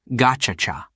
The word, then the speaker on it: Gacaca: It turned to an old tradition called Gacaca, pronounced Gachacha.